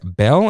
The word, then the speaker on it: Belle: here we go as belle and the beast that's i know that's the proper way to say it but it sounds weird because you know it's beauty and the beast and all that uh so bell on